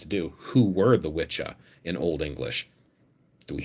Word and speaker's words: wicca: at the anglo-saxon words in old english apparently that is pronounced witcha and it referred to